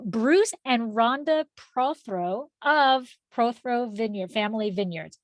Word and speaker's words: Prothro: throw vineyard family vineyards did i pronounce the name correctly that's the first question surprisingly so most people don't but you did uh and it's it's pro throw family wines okay oh that note